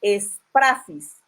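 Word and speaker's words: σφραγίς: La palabra griega usada en el libro de Apocalipsis para sellos es la palabra esprafis con G, esprafis.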